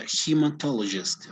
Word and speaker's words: hematologist: you're right it's a hematologist okay notice the pronunciation it's hematologist okay yes hematologist okay so